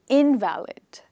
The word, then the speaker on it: invalid: person who is sick is called an invalid with the stress on the first syllable a sick person and